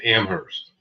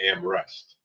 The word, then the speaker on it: Amherst: But it's Amherst. The people up there say, "Welcome to Amherst. They don't say Amrest. Amhurst. They pronounce it that way, too.